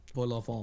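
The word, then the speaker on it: vol-au-vent: So I at least know that I need to get really nasally with it. Yeah, and don't say the last T. Vol au vent.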